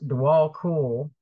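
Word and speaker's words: Djwal Khul: Dwal Kul, pronounced Dwal Kul, also known as the Tibetan Buddhist master, who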